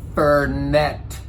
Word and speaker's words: Fernet: said to him, I finally was like, "It's pronounced Fernet."